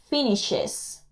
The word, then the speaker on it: finishes: El verbo finish, como termina en SH, también le ponemos ES y se pronuncia finishes.